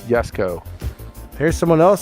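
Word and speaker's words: Jesko: So it is Yesco. Yeah, people are confirming it's Yesco.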